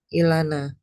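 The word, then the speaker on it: ܐܝܠܢܐ: Jadi kalau ada kita mau bilang I untuk buat huruf I di depan karena ee kita butuh huruf alaf ya. Heeh. Karena bunyinya A gitu kan. Nah huruf alaf kalau kita kasih huruf yod sama titik berubah jadi I. Oh gitu ya. Nah berarti dibacanya apa? Ilana.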